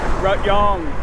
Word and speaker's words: Rayong: How it's spelt in English. In Thai, it's Rayong.